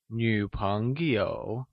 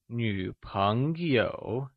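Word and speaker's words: 女朋友: Girlfriend or female friend translates as Nǚpéngyǒu Lets see what the new word we learnt means! Nǚ means girl, daughter, female or woman, and is pronounced with a falling rising tone Can you say Nǚpéngyǒu Good job!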